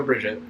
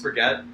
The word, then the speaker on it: Brigitte: I mean, Mercy, Lucio, Bridget. Makes sense. Yeah, usually just Bridget's is nice. Bridget, I love her. Yeah. It's Brigitte. Is it? I think it's actually pronounced Brigitte.